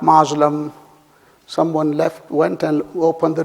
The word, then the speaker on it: Muslim: And the Muslims, again the CS sound, Muslim, and not Muslim.